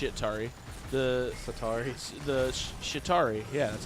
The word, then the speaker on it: Chitauri: tari the sitar he's the Chitauri yeah that's how you say it right the